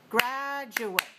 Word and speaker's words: graduate: four is the noun graduate graduate graduate graduate graduate gradu has three syllables and it's dressed on the first syllable so 3-1 now I